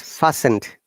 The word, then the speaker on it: fastened: okay and that was is fastened not fastened fastened yeah so the t is silent here yes okay lovely nice